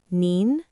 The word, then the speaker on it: 您: One is ni, and the other is nin. Let's practice reading them. Ni, ni, ni, nin, nin, nin. Both ni and nin all mean you. The difference is the tone.